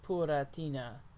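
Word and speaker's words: プラチナ: was um because of the japanese pronunciation of platinum is pura tina or words to that effect um there they are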